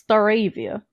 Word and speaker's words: Stareivia: could pronounce my name. Yes, it's Stareivia.